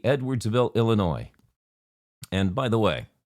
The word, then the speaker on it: Illinois: And by the way, I do know it's pronounced Illinois. I know I say jokingly that it's Illinois, but I've had this debate for years. If it's pronounced Illinois, drop the damn S.